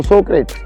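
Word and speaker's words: Socrates: उनमें से मेरा फेवरेट फ़िलासफ़र है सोक्रेट्स, जिसे हिंदी में सुकरात कहा जाता है। वो ग्रीक था तो उसकी प्रोनाउंसिएशन सोक्रेटिस है, जो रियल प्रोनाउंसिएशन है, लेकिन कई लोग सोक्रेट्स, सुकरात बुलाते हैं।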